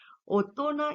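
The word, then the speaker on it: 大人: आतेजी ऐसे होते हैं कि कुछ ऐसे कांजी या कुछ हाँ यस, कुछ ऐसे कांजी होते हैं जिनको ओनियोमी कुनियोमी कुछ अलग ही प्रोनाउंसिएशन उसका किया जाता है, उसे आतेजी बोला जाता है, ठीक है।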